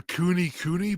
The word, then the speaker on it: Kune: I wouldn't mind getting a cooney pig. So they're like hairier. They look like a dog pig. Nice. Yeah. How do you spell that? It's Kune Kune. Cooney. Cooney.